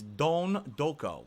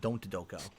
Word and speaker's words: Don Doko: It's Don Doko. Don That's how they Doko. pronounce it in the game, so I'm pronouncing it correctly. Not Don't Doko.